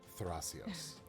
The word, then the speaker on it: Thrasios: And you better put that Spanish flutter tongue on it. Thrasios.